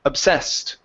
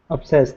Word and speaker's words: obsessed: for pronunciation okay so instead of saying obsessed it's obsessed the stress is at the very end of the word obsessed obsessed okay okay good good